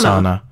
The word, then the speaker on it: Sana: Her name is Sana. Sana. Girl. Sana. You just right there. No, that's true, Sana. But not spelled like sauna. No, but like sauna.